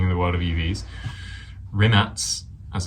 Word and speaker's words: Rimac: Rimac, as it's pronounced, unveils new EV battery that charges faster than filling up a gas tank.